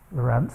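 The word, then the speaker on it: Lorenz: is not the Lorent but his name is pronounced Lorent even though it has a c on the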